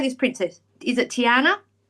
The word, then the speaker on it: Tiana: Princess, is it Tiana?